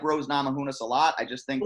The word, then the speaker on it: Namajunas: say your last name Rose namajunas not Mohonasen entourage who knows it